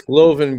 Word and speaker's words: Glovin: and it's Glovin because it rhymes with glowing.